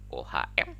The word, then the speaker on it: ohm: Satuannya ohm, OHM, atau lambangnya ini. Ini lambangnya bacanya ohm.